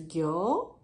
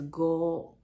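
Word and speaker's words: 行: know which is right this is kanji character of you and we pronounce two ways one is gyo the other is go so go is not wrong we say go also but meaning is different yo means work go means karma so that's why we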